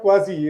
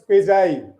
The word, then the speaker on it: quasi: It's not quasi. It is quasi.